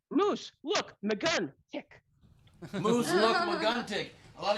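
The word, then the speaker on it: Mooselookmeguntic: Look, it's okay if you separate it out. It's moose. Look, maguntic.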